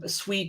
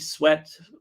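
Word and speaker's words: Sweatt: going to enter uh sweet sweat people pronounce it both ways um are going to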